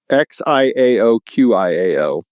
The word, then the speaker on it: Xiao Qiao: X I A O Q I A O Xiao Qiao.